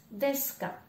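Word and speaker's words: です: finit donc en K j'ai encore le déçu qu'on ne prononce pas on dit desk que l'on voit au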